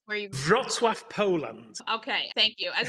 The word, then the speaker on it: Wrocław: Please pronounce where you... Wrocław, Poland.